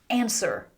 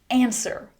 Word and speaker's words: answer: Answer. Answer.